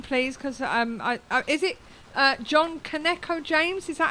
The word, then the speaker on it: Kaneko: Because is it John Kaneko-James? Is that how you pronounce it? Oh crumbs. Well, I pronounce it as badly as anyone else, but it's Kaneko.